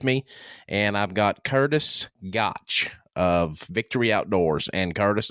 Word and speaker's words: Goettsch: Goettsch. Goettsch.